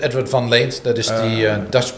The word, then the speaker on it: Edward van Leent: Is that the right name, Edward van Leent? Yeah, you can say that, Edward van Leent.